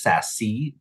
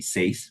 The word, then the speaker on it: SASE: I am the CEO and Executive Director for the Society of Asian Scientists and Engineers, pronounced SASE for short, like VASE. Some people might call us SASE, but we're really SASE.